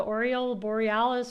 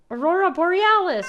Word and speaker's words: Aurora Borealis: that's actually hilarious no the oral Borealis or whatever is going to get us Aurora Borealis oh my gosh that's how you say it hsh hot how may